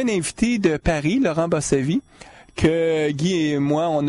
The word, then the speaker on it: Bossavit: On est dans les bureaux du crime et avec nous, on a Laurent Bossavit. C'est comme ça que tu prononces ton nom, Laurent?